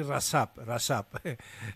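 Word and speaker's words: Recep: Alors, Rajab Tayyip Erdogan aussi, au départ, on disait Rajab, mais maintenant, on dit Rasap.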